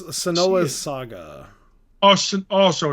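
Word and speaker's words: Senua: called SAS or sonoa I forget how I pronounced her name the two words oh hell blade it's sonoa Saga oh oh so it's not hellblade well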